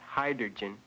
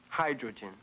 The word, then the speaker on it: hydrogen: sorry but you're wrong not hydrogen you transposed the r sound the word is pronounced hydrogen hydrogen Lucy how about this